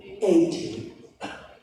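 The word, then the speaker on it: eighty: This one, the stress is here, 80. Yes. This one, the stress is here in T, 18.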